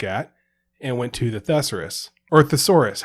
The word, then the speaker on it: thesaurus: You put the emphasis on the wrong syllable. Exactly. So I really don't know if it's thesaurus or thesaurus. It is. Thesaurus.